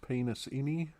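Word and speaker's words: Penisini: Which I do believe from previous shows we've agreed it's pronounced penis-ini. Oh, sorry, yeah. Will Penasini, yeah.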